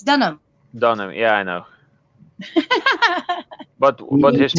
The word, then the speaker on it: Dunham: see done here my say Dunham done ham no the H is silent it's Dunham Donna yeah I know